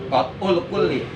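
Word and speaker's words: قطع الكل: Pertama, qat'ul kulli. Nah, supaya enggak terlalu banyak kata-kata, belajar. Yang pertama qat'ul kul gitu. Diwakop bacanya. Qat'ul kul.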